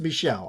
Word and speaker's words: Michel: I know it's pronounced Michel.